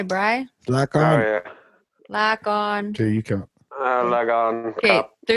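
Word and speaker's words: ลาก่อน: No, it's lock on. You said hi. That's hi, Bri. Lock Oh, on. yeah. Lock on.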